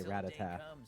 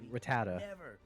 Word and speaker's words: Rattata: Even in the anime they say rat attack. Don't come at me with that rattata. That's not how it's said.